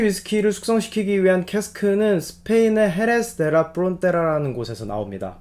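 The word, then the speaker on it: Jerez: 숙성시키기 위한 캐스크는 스페인의 헤레스 데라 프론테라라는 곳에서 나옵니다 보통 헤레스라고 줄여서 표현하고 거기를 영어식 발음으로 쉐리라고 표현을 하는 거죠 거기에 가면 쉐리 페스크가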